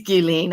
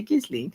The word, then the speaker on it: Ghislaine: It is Ghislaine, I know, and I always say it like a, the American that I am. I say Ghislaine, but I know it.